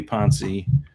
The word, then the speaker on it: Ponce: the KBO MVP Cody Ponce, who maybe I didn't even saying his name wrong also, but we'll work on names. It's definitely Ponce, right? Ponce, okay, it's Ponce, right? Yeah, it's Ponce. Yeah.